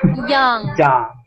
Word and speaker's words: Young: Open your mouth. Watch me. Young. Young. Young. Much better. That's how you make that sound, with your mouth open.